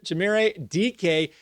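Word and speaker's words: Dike: I said his name wrong last week. I called him Dyke. His name is Chimere DK, a rookie wide receiver for the Tennessee Titans.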